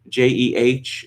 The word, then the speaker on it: Jeh: family friend again now it's supposed to be pronounced j why not simply name your son j and then if you know it comes up you can say well actually we named it for this fellow who spells his name jeh but is pronounced j you can imagine going through your life when people you know call you jack it's not ja it's jay i mean you know